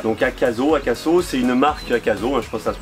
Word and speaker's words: Akaso: Donc Akaso, c'est une marque Akaso, je pense que ça se prononce, c'est une marque chinoise qui fait une caméra embarquée type GoPro 4K.